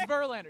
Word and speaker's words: Verlander: sirlander last name uh it rhymes with oh oh it's Verlander yeah yeah I so I